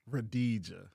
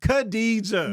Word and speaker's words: Khadija: Radija. What's her name? Khadija. Girl, that's the same thing.